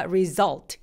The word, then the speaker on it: result: 그래서 굉장히 또렷하게 느껴지죠 근데 결과 result 얘는 할 때 또렷한 엘 발음을 내지 않는데 뭔가 알아도 좀 다른 느낌이죠 이거 왜 그러냐면 이 위 절트 하는 것처럼 절처럼 리을 받침으로 끝내는 발음들 있죠 걔네들을 우리가 보통 이렇게 다크엘솔이라고 합니다 다크에라고 라이트 엘이고 지금